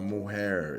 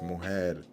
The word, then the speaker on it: mujer: Don't read with your English mind. Read with a Spanish mind. Okay? It's not mujer, it's mujer.